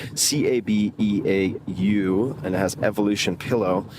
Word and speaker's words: Cabeau: This, and I'll do my best here, Cabeau, I believe is the pronunciation, Cabeau, and it has Evolution Pillow written on the side.